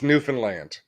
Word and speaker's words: Newfoundland: you got screened it's newfoundland they said think of the word understand and how you pronounce that but then think of new fun because it's all fun land newfoundland and it's it's little